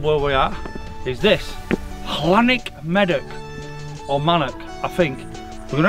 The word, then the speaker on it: Llanymynech: How do you pronounce this golf club? Because I think I'm going to get it wrong. Llanymynech. Llanymynech. No, Llan. Llan? Manor. Llanymynech.